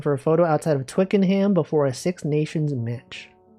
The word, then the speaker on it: Twickenham: Actually, it's pronounced twickenum.